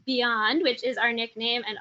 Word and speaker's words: BIJAN: their loved ones and while our acronym appears as beyond we often pronounce as bijan we often pronounce it as beyond which is our nickname